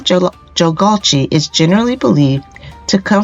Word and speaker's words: Jagalchi: First, let's pronounce the name, Jagalchi.